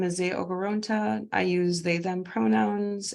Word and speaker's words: Nze Okoronta: I would like to introduce Zay Okoronta, and I apologize if I mispronounced your name, and I look forward to your sharing today.